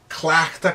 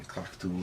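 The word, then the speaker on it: cleachtadh: Now, some dialects, of course, will pronounce things a little differently, but in general, the part I'm emphasizing is always the same. The endings might be a little different sounding. Clachtu, if you like, in Ulster.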